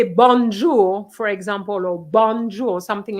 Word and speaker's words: bonjour: sisec would say bon jour for example or bonjour something like that banjo doesn't exist bonjour does exist so pronunciation starts at an early early stage so